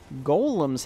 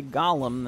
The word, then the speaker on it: Golem: you know conversion submission Golems hird I learned that it must be said Golem if you say Gollum then somebody out there will correct your pronunciation weirdly enough of all